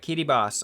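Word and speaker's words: Kiribati: have KY boss uh KY boss I hope I pronounce it somewhat correctly at least I've heard that the ti makes an S sound for some reason I'm going to stand with that I think KY Bas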